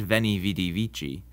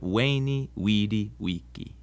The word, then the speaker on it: Veni, vidi, vici: The V in Latin is pronounced like a W sound. So Caesar's famous saying isn't Veni, Vidi, Vici, but Veni, Vidi, Vici.